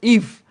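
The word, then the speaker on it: Yves: Please, Bisuma's first name is pronounced Eve. Yes, it's Yiv Bisuma. Yiv Bisuma. Thanks. I am Sir Pats from Dansuman. Okay, so Eve Bisuma.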